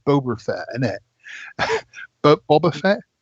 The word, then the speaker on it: Boba Fett: um eggy buggies ngl pronounce it boba fett boba fett not boober boba fett thank you this is